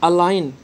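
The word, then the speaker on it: align: और अलाइन, थोड़ा प्रोनाउंसिएशन पर ध्यान दें, एन के पहले जी है तो जी साइलेंट रहेगा।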